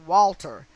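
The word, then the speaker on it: Walther: he purchased was a welter i'm going to pronounce that walter w-a-l-t-h-e-r a walter p 22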